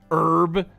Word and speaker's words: herb: that'll give me anything herb the H is silent I mean I've heard people say it both ways honestly um countertops again